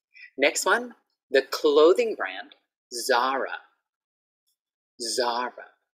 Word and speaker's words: Zara: So I heard a lot of people say, oh, I'm going to go shopping, Salah, Salah. And what? You're going to go to Salah, the hotel? So Salah, Ayutthaya, right? Like the hotel. And Zara. Zara, the clothing brand.